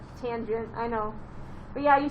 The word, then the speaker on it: tangent: not cos it's cosine it's not tan tangent i know but yeah